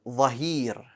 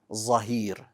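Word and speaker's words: ظاهر: So the word Dhahir is pronounced incorrectly sometimes as Zahir. And that's wrong. Remember, there's only one Z sound, and it's the letter Za.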